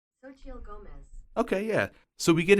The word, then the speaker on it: Xochitl Gomez: Pronunciation. Xochitl Gomez.